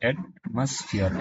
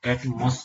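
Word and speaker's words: atmosphere: एटमॉस्फेयर एक noun है, इसका प्रोनाउंस होता है एटमॉस्फेयर, एटमॉस्फेयर, एटमॉस नहीं होता है, एटमॉस्फेयर, एटमॉस्फेयर, एटमॉस्फेयर, एटमॉस्फेयर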